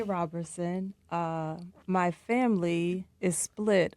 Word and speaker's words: Roberson: I say Robertson. Uh, my family is split on the pronunciation of my last name.